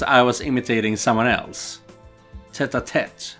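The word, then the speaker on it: tête-à-tête: Tete-a-tete, I think it's actually pronounced. French, you know. French and Irish don't trust the letters.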